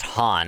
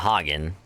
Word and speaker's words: Han: That's supposed to be pronounced Han, not Hagen.